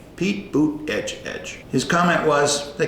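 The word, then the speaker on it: Buttigieg: judge he called him Pete but edge edge boot edge edge Pete boot edge edge his comment was they call him mayor Pete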